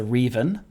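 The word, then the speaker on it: Reeven: Well, I'll correct you first on the pronunciation. It's the Reven. It's got 2 E's at the start.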